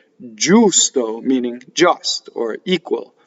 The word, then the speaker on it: giusto: Now, I'm distorting this for singing. Why? I'm distorting the U. I'm making the U longer than speech. Giusto. That's the way you sing it. When you speak, you can say giusto.